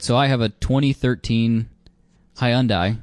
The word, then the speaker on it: Hyundai: All right, so I have a 2013 Hyundai, which is how you say it, by the way.